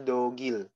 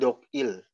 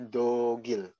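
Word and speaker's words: 독일: ke sini dong Il tapi dibacanya dogil ya bukan jok heels tapi dogil kenapa Karena di sini ada nggak jadi kalau misalkan ada m di depannya itu gamenya naik ke atas gitu nah kan kalau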